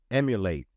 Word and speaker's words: emulate: or upgrade it anymore emulate emulate the tutor to emulate is it sounds like the word simulate right and it is kind